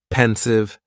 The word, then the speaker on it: pensive: next is pensive and the pronunciation is very easy just two syllables and the stress is on that first syllable pensive pensive now if somebody is